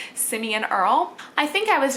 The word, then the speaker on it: Simeon: lot of people will call him either Simon or Simone. I didn't realize how uncommon his name was until after he was born, and nobody can pronounce it.